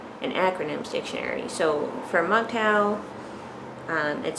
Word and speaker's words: MGTOW: their own way or m-g-t-o-w which is an acronym that people just uh pronounce as mgtow so this i believe